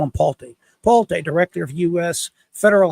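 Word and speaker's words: Pulte: Palti, that's how you say it, Palti.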